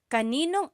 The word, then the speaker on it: kaninong: This second part is how it would be pronounced. I just want to show you how it would be pronounced. It's not technically the correct spelling of things, but that's how you would hear it or say it quickly.